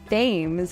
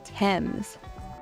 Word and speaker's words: Thames: And then of course you do not want to say the river Thames, it's actually pronounced the River Thames.